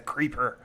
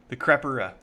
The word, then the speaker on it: Crepera: But again, I'm actually kind of more excited about this third king of Lucis, the Creeper. Or the Creepa. The Crepera. I was pronouncing it wrong this whole video.